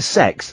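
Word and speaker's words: CeX: 13 quid then we went to sex that's that's how you pronounce Computer Exchange and they were selling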